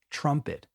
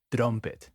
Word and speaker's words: trumpet: We don't say drumet. We say trumpet. Um is the sound you want. Trumpet. I know it's tempting to say trumpet because in Spanish we say trumpeta. But practice that um sound trumpet.